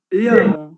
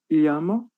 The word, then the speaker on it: llamo: Llamo, está certo também a pronúncia? Llamo. Llama, como se fosse um i.